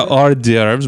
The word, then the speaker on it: hors d'oeuvres: Oh, yeah, hors d'oeuvres, mild cheeses, and poultry dishes. Bullshit. This pairs with everything. That's a lot of letters for 2 syllables.